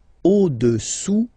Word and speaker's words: au-dessous: Le cube est au-dessous du cylindre. Okay? Au-dessous, final S not pronounced, du cylindre.